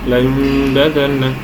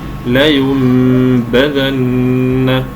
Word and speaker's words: لينبذن: على عدم اخراجها ضعيفه كثير من الناس ينطق الباء ضعيفه متاثره بضعف الغنه التي في الميم قبلها مع العلم بان الباء